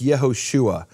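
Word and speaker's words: יהושע: Hebrew grammarians and linguists how to say the name Joshua in Hebrew it's Yehoshua and Yeshua which later became Jesus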